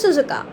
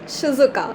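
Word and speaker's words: Shizuka: Finance department की head थी miss सुजुका. Sorry for the wrong pronunciation, it's शिजुका, okay.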